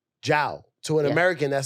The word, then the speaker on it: Jiao: it spell yeah because you got a j-i but you pronounce it ciao Zhao to an American that